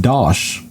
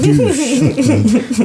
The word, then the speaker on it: Dosh: guy's name who's uh is pronounced Dosh but she called him douche uh but she did